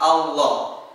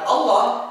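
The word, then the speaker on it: الله: bahasannya adalah mengucapkan lafaz Allah. Sahabat Al-Quran yang dirahmati Allah Subhanahu wa Ta'ala, pengucapan lafaz Allah itu ada 2 cara. Ada yang dibaca tebal seperti Allahu, ada juga yang dibaca tipis seperti lillahi.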